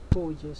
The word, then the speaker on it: gorgeous: Well, the first one is gorgeous. Can you say it? Gorgeous, because of this O. O-R is pronounced O.